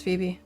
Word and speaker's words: Phoebe: Yeah, it's Phoebe. Weird how it's kind of silent.